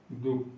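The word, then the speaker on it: दुःख: दुख, इसका उच्चारण करके देखिए। दुख, दुख। देखिए दुख, दु पे विसर्ग लगने से क्या इस पे बल पड़ रहा है उच्चारण करने में।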